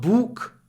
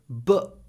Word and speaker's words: book: It's not book, it's book. Look at my mouth. Book. Even when I pronounce the book, there's already a gap between my teeth.